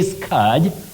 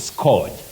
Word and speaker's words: scourge: say SC SC no you say Scourge with the long M Central sound o Scourge Scourge not scorge that we hear around us otherwise can we